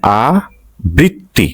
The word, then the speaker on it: আবৃত্তি: সেই উচ্চারণটা লিখতে হবে আবৃত্তি মানে আব বৃত্তি উচ্চারণ আবৃত্তি আবৃত্তি আশ্রম যদি র ফালা